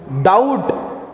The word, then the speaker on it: doubt: The silent letter in the word doubt. Pronounce ಮಾಡ್ರಿ. ಈಗ silent letter ಯಾವುದು? ಡೌಟ್. Okay, but ಇದರಲ್ಲಿ ಏನಿದೆ? ಬಿ ಅಂತ ಇದೆ. ಸೊ ಏನು ಸೈಲೆಂಟ್? ಡೌಟ್. ಬಿ ಬರ್ತಿಲ್ಲ ವರ್ಡ್, ಬ ಅಂತ ಬರ್ತಿಲ್ಲ ವರ್ಡ್.